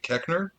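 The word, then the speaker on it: Koechner: gosh damn i can't remember his name david keckner is that how you say it yeah when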